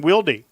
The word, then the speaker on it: Wilde: Now I'm hearing two different pronunciations for Carson Wilde. Now you know there's a Wilde that is a fine receiver for South Dakota State, but I'm hearing now Wild is the name.